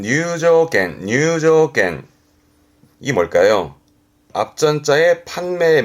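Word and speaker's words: 入場券: 발음은 뉴조겐, 뉴조겐.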